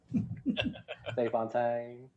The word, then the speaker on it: de Fontaine: good arm good night valentino allegra de fontaine de fontaine that's that's how you say it on the